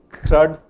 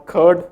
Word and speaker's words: CRUD: CRUD or CURD one-on-one, I had a hard time, pronouncing CRUD versus CURD. So this is CURD, I love it. I eat it every day. And that's CRUD, which is create, read, update, delete, the API operations that you do.